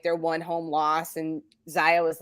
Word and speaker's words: Zia: Is it Zia or Zaya? Zaya. Oh, I'm sorry. I might have mispronounced. I have no idea. Yeah, it's Zaya.